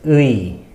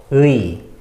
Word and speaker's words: 의: and this one is 의. 의. The pronunciation is E-U-I.